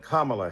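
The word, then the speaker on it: Kamala: to the congresswoman who insisted upon misnaming mispronouncing kamla Harris do you call Melania melan do you call Ivanka ianka two other TRS man give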